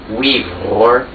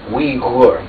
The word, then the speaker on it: Uyghur: Uyghur.